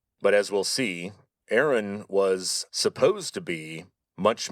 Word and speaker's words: Aaron: that's this guy, Aaron, pronounced today in English as Aaron.